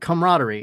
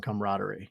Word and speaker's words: camaraderie: you know, like that camaraderie. And that's what I was going to say, Sydney. I have never ever ever heard that other syllable pronounced in camaraderie.